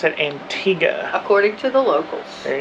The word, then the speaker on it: Antigua: You do pronounce it, Antigga. According to the locals. There you go. Antigua is how they told us to say it on the ship and the locals say that's wrong.